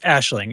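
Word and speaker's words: Aisling: the guys serious yeah it's it's like a a Celtic yeah Celtic name it's it's Ashling it really really is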